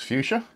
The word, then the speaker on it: FUXA: going to use fuchsia which is spell fux a and pronounce fuchsia I understand as our scada system